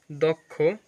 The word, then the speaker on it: দক্ষ: এর পর খেয় থাকলে আদ্য অ এর উচ্চারণ ও এর মত হবে যেমন দক্ষ দক্ষ সুপ্রিয় শিক্ষার্থী বন্ধুরা কেমন